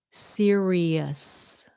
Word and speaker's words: serious: The way to correctly pronounce this word is serious.